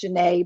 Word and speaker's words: Janae: name i mean it's it's spell says uh pronounced janae but j-a-n-u-e with a hyphen it sounds like genu and um i don't